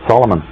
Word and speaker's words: Solomon: mm-hmm but you actual right way to pronounce his name is in three syllables because the man Solomon did not actually exist the concept of the story of Solomon has based on the